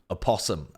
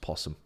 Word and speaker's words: opossum: down and I think I'd probably said a possum and someone was like what are you talking about it's just pronounced possum so strange how Americans